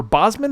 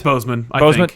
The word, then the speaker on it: Boseman: kind of aware uh chadwick boseman or bosman how was it pronounced it's bozeman okay uh he passed away